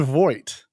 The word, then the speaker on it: Voight: So I've been told the correct pronunciation is John Voight, that his first name is Yeah. pronounced John Jean Voight? and his last name is pronounced Voight.